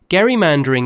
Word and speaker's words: gerrymandering: The governor said his name with a hard G, like Gary. The word that outlived him took a soft G instead.